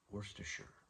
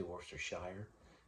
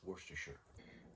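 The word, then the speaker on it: Worcestershire: It's actually pronounced worsture if you want to know. Worstershure is how they say it. Some say worshshire, but it's worsture.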